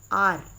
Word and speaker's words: hour: HOUR, आर, इसमें से H silent होगा।